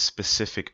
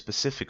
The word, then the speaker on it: Pacific: I can't tell you people constantly say oh this specific ocean well which ocean you're talking about a specific ocean which ocean notice Pacific Ocean you got the Atlantic Ocean and the specific oh you mean Pacific Ocean oh yeah yeah now